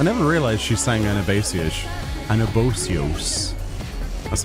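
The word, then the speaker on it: Anabaseios: C I never realized she's sang anabas anabios that's how you pronounce that an abos uh I'm going to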